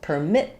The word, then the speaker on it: permit: So second syllable please permit me to explain. So we have a short little purr and then mit has my long clear vowel permit me.